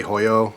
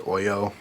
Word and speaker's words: Hoyo: but by the way a lot of people say hoyo I believe it's pronounced Oyo but you know I'm